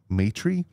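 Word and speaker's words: Maitre: Matry continues to make some noise. I think that's how you pronounce his name. M-A-I-T-R-E. Matry.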